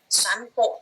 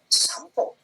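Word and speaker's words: 散歩: Berarti dibacanya bukan sanpo, tapi dibacanya ke M, jadi sampo.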